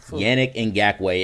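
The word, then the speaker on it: Yannick Ngakoue: yannick and gatway listen his name is yannick and gatway and not in jerusalem i got the first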